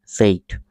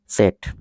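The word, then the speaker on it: said: উপর ইন্টেলিম গভমেন্ট এডভাইজারস সেইট সেইট না এটার একচুয়াল উচ্চারণ হচ্ছে সেট সেট এর মতো ইন্টেলিম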